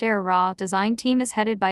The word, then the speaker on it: Aehra: surprise perhaps given the era its pronounced air raw design team is headed